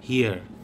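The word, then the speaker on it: rua: যখন রুয়া উচ্চারণ করা, এটা রুয়া হয় না, এটা হুয়া হয়ে যায়, মানে আরটাকে একটু গার্গিলের মতো করে উচ্চারণ করতে হয়।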